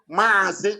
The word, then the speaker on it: Mazi: So to pronounce Mazi Nnamdi, they wrote it M-A-A, Mazi. They didn't write M-A, they wrote Mazi.